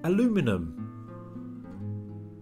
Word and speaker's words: aluminum: The British also say aluminum, but in American they say aluminum. Just taking the eye out of aluminium changes the number of syllables and the pronunciation.